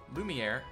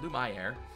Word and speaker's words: Lumiere: here it is a it's called Lumiere or Lu my hair is how I pronounce it but it's a called